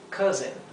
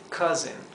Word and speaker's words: cousin: Lo he escrito casin. Sin embargo, acá este sonido de la o y la u sería algo entre medio de una a y una o. Cousin. Y la s es una s zumbada como la vibración de una de una abeja. Es z.